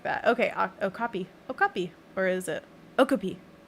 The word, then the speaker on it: okapi: Okay, okapi.